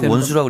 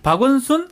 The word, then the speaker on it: 박원순: 박원수, 안철수, 김문수 3파전이 지금 박원수라고 그랬어요? 박원순입니다. 발음을 정확하게 해주세요. 안녕하십니까 박원순입니다. 네. 비슷합니까? 네. 네. 박원순, 안철수, 김문수 네.